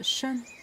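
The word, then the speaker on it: 申: Quand il est tout seul, il prononce Shen. Premier ton.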